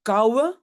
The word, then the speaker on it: kouwe: Et puis koude devient kouwe, hein, le D on ne prononce pas.